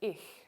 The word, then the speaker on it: ich: this is an x german also has a voiceless palatal fricative also spelled with ch in german as in the word ich meaning i the symbol for this is a c with a cedilla now remember what we said